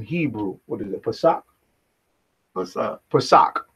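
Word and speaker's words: פסח: Pesach.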